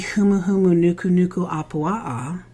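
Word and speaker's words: humuhumunukunukuāpuaʻa: one which we had many conversations about the humuhumu Nuku Nuku AAA correct pronunciation by the way uh which is the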